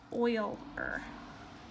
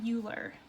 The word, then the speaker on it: Euler: would call that an Euler path I'm just gonna make a note here this is pronounced oil or right not Euler not like cooler so an Euler path